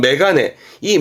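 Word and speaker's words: 眼鏡: 경인데 이게 안경이라 그런데 안경은 발음이 특이합니다 아시는 메가네이 메가는 별음자리표 뜻으로 읽어야지요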